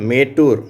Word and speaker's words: மேட்டூர்: இங்கே பாருங்கள், மேட்டூர். மேட்டூர்னு ஒரு ஊர் இருக்கு இல்லையா, அணைக்கட்டு இருக்கு இல்லையா, மேட்டூர் டேம், மேட்டூர் அணைக்கட்டு இருக்கு இல்லையா, அந்த ஊர் மேட்டூர் இங்கே இந்த ஈ என்ற எழுத்து ஏ என்ற உச்சரிப்பை பெறுகிறது.